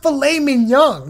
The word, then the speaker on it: filet mignon: live in a three-star mansion and third it's pronounced filet mignon not whatever you said whatever it's a feminine